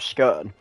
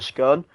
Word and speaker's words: scone: And it's quite interesting because the pronunciation of scone in England anyway. It depends on where you're from. If you're from the north of the north, you pronounce it as a scone. If you're from the south, like London, you pronounce it as scone.